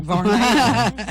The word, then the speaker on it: Varnell: got to say it right, Barnell. Varnell, I'm from the South here, I know that. And of course, Tinga's not Tinga, it's Tingy.